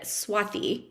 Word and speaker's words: Swathi: of my name but if you want the authentic way of saying it there should be an H after the T so it's actually said Swati um but I respond to both Swati and swathi so it